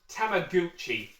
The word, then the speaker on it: Tamagotchi: And for some bizarre reason apparently it's pronounced tamaguchi. I'm sorry Japan. You're not going to get me to say Gucci. It's Tamagotchi. It's always been Tamagotchi since I was like oh I'm going to say 10 years old.